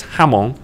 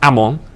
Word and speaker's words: Hamon: point of view whereas hamon or Amon as I need to correctly pronounce his name as Philip always tells